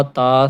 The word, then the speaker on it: ت: میں انہیں پڑھیں گے، اردو تلفظ سے پرہیز کریں گے، جیسے کہ بے تے سے حیخ ہم بولتے ہیں، توئیں زوئیں وغیرہ، تو یہ ہم نہیں بولیں گے، بلکہ با تا سا حا خا اس طرح